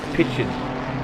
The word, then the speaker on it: Picken: Just FYI, Picken is pronounced Pitchin.